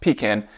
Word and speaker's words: pecan: And yes, it's pronounced pecan.